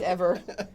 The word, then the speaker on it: Yves: there right now is the Eve hotel pronounce that Eve oh y-v-e-s yeah yeah yeah it's